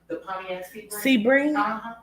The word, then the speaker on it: Sebring: keep hearing Sebring yeah is that how you pronounce it Sebring it is okay I'm gonna write that